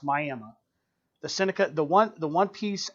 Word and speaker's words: Miami: That is an issue so where I grew up in Old Town, spelled like Miami, Florida, but it's pronounced Miami.